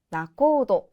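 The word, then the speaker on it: 仲人: 정답은 B의 나코도 가시면 되겠습니다.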